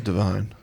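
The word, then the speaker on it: Devine: I've never known if it's been Deine or Divine. I think it's Divine. I've always said it Divine, but anyway, was like Adam Lavine.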